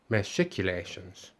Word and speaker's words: machicolations: then into english and that it meant that it should be pronounced as masculations uh he added a